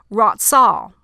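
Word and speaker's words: רצה: So the meaning of affection in the Hebrew, it's pronounced ratzah.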